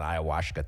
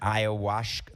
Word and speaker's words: ayahuasca: Ayahuasca, like babush. It rhymes with babushka.